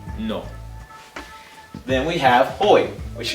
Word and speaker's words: no: You don't say it like no like an Englishman or an American. You say it no.